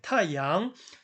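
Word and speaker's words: 太阳: 네, 타양.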